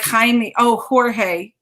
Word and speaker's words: Jorge: like behind me oh jorge jorge oh yeah that has an h sound but i definitely heard